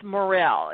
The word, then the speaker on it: Morrill: the spelling of um Jan's last name it's Morel is is that the correct pronunciation yes it is m o r r